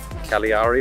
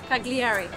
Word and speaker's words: Cagliari: After a little drive, we've arrived here in the town of Cagliari, I think it is, or Cagliari, or however you pronounce this thing. But Cagliari.